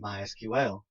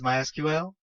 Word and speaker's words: MySQL: As you can tell, I've been calling it MySQL. That is the correct pronunciation. However, it is also commonly called MySQL. If you hear it called that, don't be confused. It's the same thing. So what is MySQL?